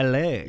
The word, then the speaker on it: Islay: Islay.